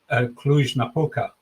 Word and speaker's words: Cluj-Napoca: I think it would come as a big surprise to hear that Cluj-Napoca, I might have pronounced it correctly there.